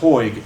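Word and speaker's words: Hoig: Massacre and I believe his last name is pronounced hoyg h-o-i-g is the author of this book um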